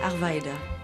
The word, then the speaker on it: Arvida: Donc, on devrait prononcer Arvida de quelle façon? Arvida. C'est vrai? Oui.